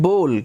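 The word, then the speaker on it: bowl: कटोरी को इंग्लिश में बोलते हैं बोल। काफी लोग इसको बाउल भी बोलते हैं, जो कि गलत प्रोनाउंसिएशन है। आपको इसको हमेशा बोल बोलना है, ठीक है।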